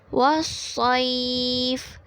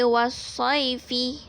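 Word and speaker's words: وَالصَّيْف: Jadi cara bacaan dia wasaif. Wasaif. Kita tak baca wasaifi.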